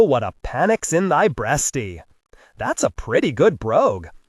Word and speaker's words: breastie: My brothers only recited it to have an excuse to say breastie, which they did not pronounce in the Middle English way, braisty.